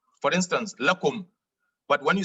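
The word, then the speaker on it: لكم: When attached to a pronoun, we said the lam is pronounced la. Otherwise, it is pronounced li. For instance, lakum.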